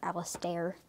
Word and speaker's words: Alistair: It's spelled like stare, Alistair.